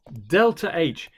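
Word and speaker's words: ΔH: to give this funny symbol here it is pronounced it is said delta h sorry delta h this here this is a greek letter and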